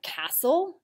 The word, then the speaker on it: castle: There are a lot of other words with a silent T, like castle and listen.